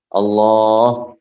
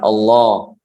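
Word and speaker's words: الله: Yang pertama adalah bahwasanya lamnya ini panjang. Kemudian haknya ini harus dijelaskan. Allah, dia ada haknya, bukan Allah. Sebagian orang bilang seperti itu.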